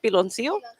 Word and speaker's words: piloncillo: Piloncillo. Piloncillo.